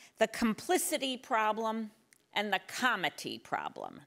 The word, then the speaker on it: comity: And I will call them the complicity problem and the comity problem, not the comedy problem. I've got to pronounce my T's.